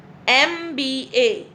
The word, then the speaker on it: MBA: It is beginning with M, but the sound is E. MBA.